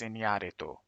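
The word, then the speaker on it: Iñárritu: This movie was directed by Alejandro Gonzalez Inoritu. I pronounced that roughly okay, I think. Alejandro Gonzalez Inarito.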